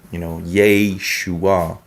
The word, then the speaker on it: Yeshua: I would spell it differently in the Latin letters to be, Yeshua, so. But anyway, because that's a Serei, not a Shava, but a Serei Nikud in regards of Yeshua. So you get this Yeshua, So anyway, like Jehovah, you have Jehovah, right?